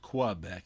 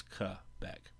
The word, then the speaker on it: Quebec: Again, I remind you that it is a French word and it's not pronounced Quebec, it's Quebec.